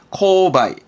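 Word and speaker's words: 購買: 구매. 발음은 코바이.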